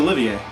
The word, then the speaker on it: Olivier: Olivier. That's there you go. Yeah, like Laurence Olivier.